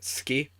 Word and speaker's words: suki: So, like, the term "suki" is often pronounced as "ski," where you technically the "u's" still there, or the "oo" sound's still there, but it's kind of cut out.